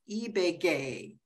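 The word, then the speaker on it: Ibagué: based between Barcelona and his hometown pronounced eBay gay he can correct me if I've said that wrong he feels deeply passionate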